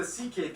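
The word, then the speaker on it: Székely: all went down then we get to the ck people the second most populous minority yes that's how you pronounce it ck basically cousins of the hungarians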